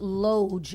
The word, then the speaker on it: loge: Question, why is it pronounced loge instead of lodge?